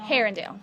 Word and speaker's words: Arundel: How about how do people from here pronounce the mall? Ha- Arundel, Herondale? Herondale. Herondale. The Herondale Mall. Yes, ma'am. That's important. Herondale Mall.